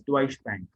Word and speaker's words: Deutsche Bank: So for example, if you see the Deutsche Bank, the pronunciation of this is Deutsche Bank.